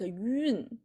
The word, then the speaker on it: 运: You can see the pronunciation like Y-O-O-N, like 运, if it's either for you.